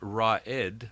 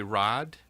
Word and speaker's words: Raad: to be confused with raed, which is like um lieutenant or leader, and that's spelled a little bit differently. Some people will want to call me Raed. Um it's actually Rad and there's sort of